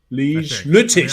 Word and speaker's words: Lüttich: Lutich. I don't know. Lutich in German. That's how you say it? That's how you say it in German? Lutich?